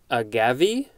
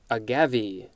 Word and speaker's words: agave: what it's saying is that's the pronunciation a-g-a-v-e uh i had a major brain fart there agave that's how i've always heard it pronounced but this is a gavi this is a noun from 1763 any of a genus of plants having spiny margin leaves and flowers in tall spreading pentacles and including some cultivated